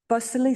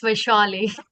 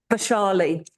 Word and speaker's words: Vashi: been joined by uh, Bali. Have I pronounced your name right? Uh, yes. It's Vashi. Vashi.